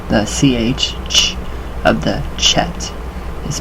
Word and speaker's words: Chet: The ch of the chet is pronounced like the ch of a Scottish word, och. So, och.